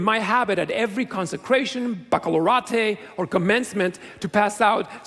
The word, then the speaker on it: baccalaureate: on your high school baccalaureate. 27 years ago, I know it's baccalaureate, whatever, that's how it's pronounced. 27 years, it's baccalaureate.